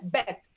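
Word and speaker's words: בּ: and the vet okay vet was more softer and when you added the the dagesh lenny it became harder and you pronounce it as beth so here also gimmel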